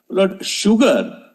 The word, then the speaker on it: sugar: that do you know sugar is the only word in English where s is pronounced as sh in his answer was